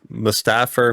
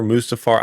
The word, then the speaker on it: Mustafar: Not, you know, I actually never had a problem saying Basso's name wrong. Rayquaza, though. Rayquaza, Rayquaza, M. Mustafer, Mustafar.